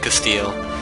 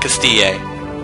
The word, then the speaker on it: Castile: I don't understand Castile. Like, how is it Castile? Why isn't it Castille? Or Castille, or something. Like, Castille, I guess, yeah. Because, I mean, I know it's not Castille. I'm fairly certain no one ever pronounces it that way. But in Spanish, a double L is a yes sound, so did they not